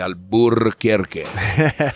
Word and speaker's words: Alburquerque: festival flamenco de alburquerque i emphasize that r just to piss everybody off who's happy that we took it out so they could pronounce it easily that's why we say burke you know that right that's that that yeah is the acknowledgement of the r that was removed by the pachucos it's all a resistance